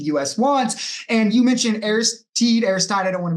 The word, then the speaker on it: Aristide: So Aristide you pronounced it right.